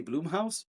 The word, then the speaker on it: Blumhouse: I always say Blumhouse, but I'm pretty sure it's Blum because it's Blumhouse.